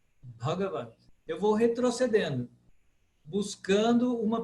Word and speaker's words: Bhagavad: Então, se eu analisar o primeiro A de trás para frente, ele é leve, o segundo é leve, o terceiro é leve. Então, ele é proparoxítona. Bhagavad. Bhagavad.